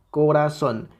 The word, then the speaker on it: corazón: ra y son Okay cuál de estas sílabas es la que suena más fuerte corazón corazón evidentemente la sílaba tónica es la última sílaba okay porque vean si